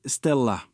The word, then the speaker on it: STLA: L'arme secrète de Stellantis, ce sont ses nouvelles plateformes, les S TLA prononcé Stella.